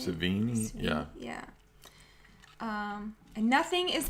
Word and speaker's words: Sevigny: Savini.